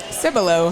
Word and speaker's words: Cibolo: Cibolo.